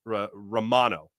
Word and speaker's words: Romano: know how to pronounce Romano. Okay. Um, the player refers to himself as Romano.